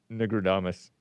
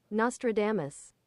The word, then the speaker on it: Nostradamus: Negradamus. How do you pronounce that?